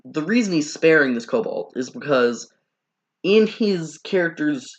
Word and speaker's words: kobold: The same kobold escaped twice. I know I pronounce it cobalt. I'm supposed to pronounce it kobold.